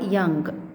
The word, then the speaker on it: Jung: अब Karl यंग, JUNG है spelling, लेकिन हम उसको यंग प्रोनाउंस करते हैं.